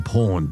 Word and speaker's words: Pwned: And have I been pawned? But beware, it's spelled PWNED.